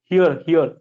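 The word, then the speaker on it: here: हेयर नहीं बोल रहा है, वो हेयर मतलब ये होता है हियर हियर। लेकिन आर का प्रोनाउंसिएशन बहुत मतलब बहुत ही कम होता है।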